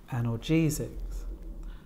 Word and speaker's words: analgesics: on the fourth syllable analgesics and this time four syllables the stress on the fourth syllable antibiotics we've got